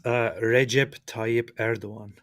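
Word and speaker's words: Recep Tayyip Erdoğan: do weird things like Erdogan is actually like Erdogan or something like this. So why don't you give us the official Turkish pronunciation where not one letter in that entire name has any connection to how it sounds? It's Recep Tayyip Erdogan.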